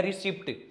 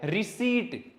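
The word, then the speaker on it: receipt: बहुत आसान चीज है, रिसिप्ट। भाई ये रिसिप्ट बिल्कुल भी नहीं है, ये है रिसीट। पी क्या है यहाँ पे, साइलेंट।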